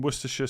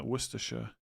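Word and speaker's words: Worcestershire: It's like pronouncing Woristers sauce as opposed to literally saying letters in there. Worersha.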